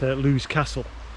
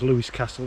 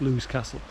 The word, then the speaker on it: Lewis Castle: out on the mountain bike trails out at lou's castle nice to call it by its correct name today i have been calling in previous videos lewis castle it's actually pronounced lou's castle so yeah there's mountain bike trails all through